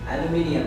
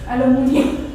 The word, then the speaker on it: aluminium: Aluminium. Aluminium. मुनियम नहीं होता. Medium. Medium. एल्यूमिनियम.